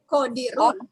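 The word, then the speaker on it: قادر: Nih, sama. Cuman pengucapan beda. Coba yang bawah. Qadirun. Qadirun. Tahu artinya? Ini qadir. Ya. Qadir itu kuat.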